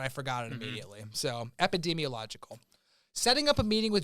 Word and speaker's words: epidemiological: Epidemiological.